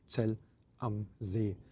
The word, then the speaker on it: Zell am See: I've heard a number of pronunciations of it, so the correct one is Zell am See. Am See means at the lake, and this is just beautifully situated.